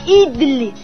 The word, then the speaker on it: idli: é o lance perfeito se escreve idli e se pronuncia idle idle é feito de